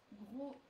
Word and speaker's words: gros: Gros and gross. So because we add the E here, we pronounce the sound made by the double S before. Okay, and here the final S is silent.